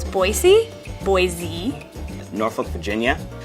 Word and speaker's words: Norfolk: People often mispronounce Boise. Boise. Norfolk, Virginia. Like Norfolk.